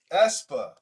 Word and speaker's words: aespa: AESPA. Pronunciation. ESPA.